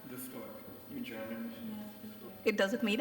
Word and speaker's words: Luftwerk: Formed your how do you exactly pronounce it? Luftwerk? Luftwerk, in German.